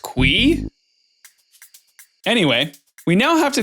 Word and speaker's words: Qi: Well, I guess that settles that. Straight from the man himself. It's pronounced QWEE?